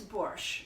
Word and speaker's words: borscht: of the beets and it is not spelled with a T at the end in Russian and Ukrainian it's it's a letter and it's like fresh cheese the Shh there's no tea I don't know why